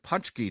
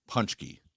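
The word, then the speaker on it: pączki: I think they pronounce them punchki, I believe.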